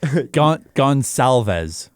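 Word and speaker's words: Goncalves: I I looked up the There's an NHL pronunciation guide. Yeah. So, I quickly did a little search. It is gonalves.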